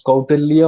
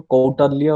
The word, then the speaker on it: Kautilya: jump into outer view sometimes many people pronounce in different way you can pronounce kautilya also quote earlier also okay so that depends anyways so quarterly you see he was